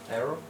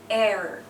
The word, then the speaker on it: error: error it is not it is an eror okay so like when we say this part we don't really say the O okay it's Error and this is a